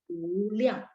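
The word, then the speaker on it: 无量: Jadi U, memang kita bacanya U, tapi ditulisnya WU ya, U liang.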